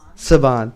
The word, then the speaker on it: Saban: are having it at the, how is it pronounced, Rebecca? Saban.